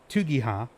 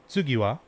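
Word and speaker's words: 次は: The symbol for tu can also be written out as or pronounced as tsu, and ha can also be written out and pronounced as wa. So this first word would actually be tsugiwa, or this first phrase would be tsugiwa.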